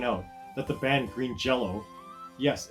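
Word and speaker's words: Green Jellÿ: that the band green jello yes it's actually pronounced jello despite being spelled jelly should have an umlaut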